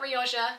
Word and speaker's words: Rioja: Not Rioja, not Rioja, not something else that I think I pronounced it as. It is in fact Rioja, and if you don't